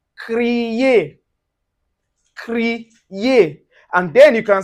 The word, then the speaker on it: créer: For instance, you can see it in word like "créer".